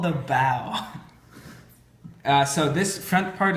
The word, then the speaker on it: bow: robin any ideas close enough it's called the bow uh so this front part is called the bow what do you guys think the back is